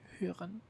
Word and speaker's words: hören: But in the word like hören, for example, or zuhören, the H is pronounced like a normal H because it's after before.